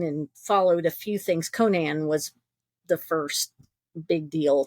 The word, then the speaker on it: Conan: Conan was the first big deal to me. Although, since I didn't know how it's pronounced back then, I think I said Conan instead Right.